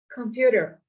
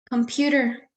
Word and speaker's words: computer: Computer. Computer. All right, so what are you doing so that the listener can hear the stress there? Computer. I think the second syllable sounds stressed.